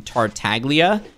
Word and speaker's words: Tartaglia: flaky salt asks griffin why do you pronounce the g in tartaglia uh that's just because